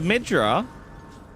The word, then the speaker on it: Midra: I'm just gonna midra. Emphasis on the mid.